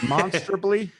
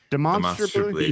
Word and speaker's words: demonstrably: that's funny and demonstratively that's a tough word to pronounce is it monsterably demonstrably yeah yeah see that sounds worse